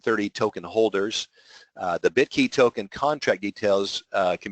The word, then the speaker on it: BitQy: cryptocurrency ethereum token uh called bit key bitqy they pronounce it bit key on May 1st 2017